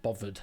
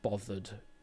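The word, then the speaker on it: bovvered: Am I even bothered said not exactly like that, but certainly with the VV sound bothered rather than bothered.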